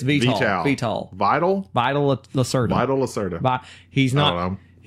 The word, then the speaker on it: Vital Lacerda: I have been wanting to play this game because it's made by Vito Lacerda. Vito Lacerda? Is that how you say it? Vito? Vito? No, that's like Vital? Vital? It's Vital. Vital. Vital Lacerda.